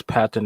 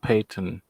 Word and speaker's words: Patton: Yeah, it's Patton, not Peyton.